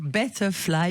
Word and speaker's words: betterfly: et en 1 et bien vous avez créé betterfly ça va je prononce bien le mot de votre société parfaitement bien la transition écologique betterfly mieux voler c'est parfait et oui alors c'est